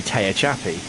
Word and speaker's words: Tehachapi: I always say Tehachapi. That's how they pronounce it on the video that I've got.